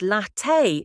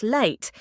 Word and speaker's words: latte: The word latte is latte, not late.